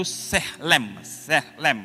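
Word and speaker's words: צלם: Kata gambar dalam bahasa Ibrani itu ya ditulis itu T-S-E-L-E-M, bacanya itu sehlem ya.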